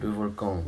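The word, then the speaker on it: Le Volcan: 르 볼캉.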